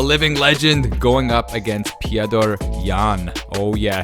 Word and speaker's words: Petr: Oh yeah, his name's Petr, not Peter, by the way. If you want to remember how to say his name, just think of Fedor. Remember Fedor? People used to call him Fedor. With Peter, you gotta call him Petr.